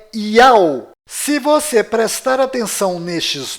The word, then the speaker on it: YAU: Vídeos é o que não vai faltar para você perceber que a verdadeira pronúncia destas três letras sagradas é Yao.